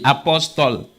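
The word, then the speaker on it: Apostol: Apostle, like the title? It's spelled A-P-O-S-T-O-L. Apostle. Means same thing.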